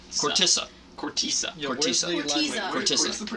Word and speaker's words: Khortytsa: apparently, how are we pronouncing this again? Oh, Khortytsa. Khortytsa.